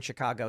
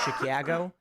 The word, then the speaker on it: Chicago: now and people like I will jokingly say Chicago and then people think it's a literal pronunciation because they exposure to like this word I'm like no it's ah it's always been ah as long as I've been alive but the fascinating thing